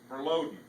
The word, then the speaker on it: verloden: It's called verloden, but it's how you say it.